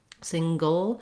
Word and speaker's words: single: sound in there, but basically this is a syllabic L, meaning the L in itself makes a syllable. It sounds like ol, it's the dark L, single.